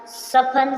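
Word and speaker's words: soften: से सुनना लिसन लिसन means ध्यान से सुनना सफन सफन सफन मींस कोमल होना इसी प्रकार नेक्स्ट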